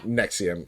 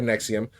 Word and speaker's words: NXIVM: a group called Nexium, which is spelled NX IVM. You know, it looks like Roman numerals, but uh it was pronounced Nexium as far as I could tell.